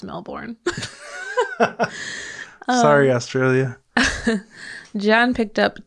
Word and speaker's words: Melbourne: up two male passengers melbourne melbourne is how you say it well according to my mom who went there a few years ago that's how the locals say it oh well i'm not